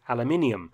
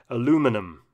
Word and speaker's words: aluminium: in the manufacture of aluminium whereas the americans say aluminum in the event the